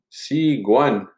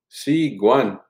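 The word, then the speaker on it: sîkwan: first word is spring c guan si guan spring si guan pronounce the the k more like a g in this word c guan uh rain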